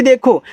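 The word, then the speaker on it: the: देखो यहां पे लिखा है टी एच ई तो देखो इसको हम द पढ़ते हैं।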